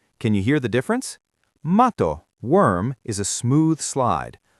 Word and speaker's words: matto: That word is matto. To say the double T, you have to hold your breath for a split second on the T, like a tiny hiccup or a stop.